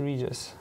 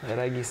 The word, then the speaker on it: Regis: I like how you said Regis in Polish. It's so good. Yeah, it's, you know, Regis, I like the hard G.